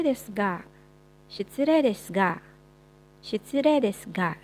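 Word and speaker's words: 失礼ですが: Shitsurei desu ga, sekalipun ditulisnya shitsurei desu ga, tapi dibacanya shitsurei desu ga. Tadi ingat-ingat kalau huruf E ketemu sama I, nggak dibaca huruf I-nya ya, tapi dijadikan penambahan panjang pada huruf E.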